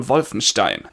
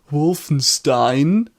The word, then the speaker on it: Wolfenstein: committed by cutting down violence teen and by the way that is the correct pronunciation not Wolfenstein please the Americans stop crippling a beautiful German language it's not emulates Mulla me and mr.